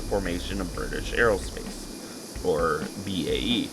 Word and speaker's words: BAe: of british aerospace or bae or bay as i sometimes pronounce it at this point